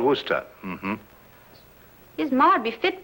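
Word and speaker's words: Worcester: else too doc but it's spelled w-o-r-c-e-s-t-e-r we're sister oh yes i see yes lord wooster mm-hmm this might be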